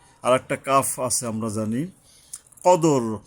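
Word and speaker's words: الْقَدْر: কদর কদর কদর মানে হল এইযে দালের উপরে কলকলা করতে হবে।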